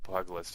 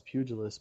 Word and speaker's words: pugilist: Pug list? That's how I just said it. How's it supposed to be said? Well, I mean, I've always been taught it's pugilist, but I mean, I just